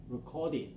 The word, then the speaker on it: recorded: Recorded. Recorded, all right, so we have recorded. Recorded, d sound, extra syllable here, so we say recorded, recorded.